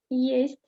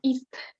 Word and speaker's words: есть: Да, есть, for example. Okay. Do you have a computer? У вас есть компьютер? Only есть. Есть. Okay, not ist. Есть. Есть. Да, есть.